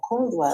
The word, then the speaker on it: Coldwell: So, how do you pronounce that? Is it CH or just CO? C O L D. C Oh, Coldwell.